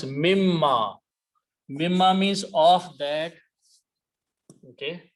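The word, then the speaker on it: مِمَّا: So when you combine them together, this noon is pronounced as a mim. So it becomes mimma.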